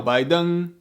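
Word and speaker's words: 拜登: pretty neutral characters to write down their names phonetically in china this man is not called joe biden his name is chiao baidung if you live in china or spend any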